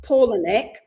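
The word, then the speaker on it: Palahniuk: he I looked him up to how to pronounce his name Chuck paulic he is like um if you imagine a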